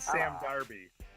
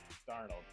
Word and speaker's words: Darnold: I said Sam Darby. Sam Darby for Heisman. Sam Darnold? Darnold, whatever his name is.